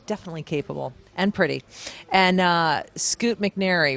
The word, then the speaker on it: Scoot McNairy: And Scoot McNairy, right? Did I pronounce that right?